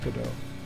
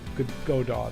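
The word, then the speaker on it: Godot: that's why it's called that that's why you pronounce it good do but you can call it could go do if you want to everyone knows what you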